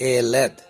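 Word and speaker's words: ילד: और औलाद को इब्रानी में कहते हैं एलेद, और एलेद की स्पेलिंग है योद और लमेद, और दलेत ये चौथा अक्षर है।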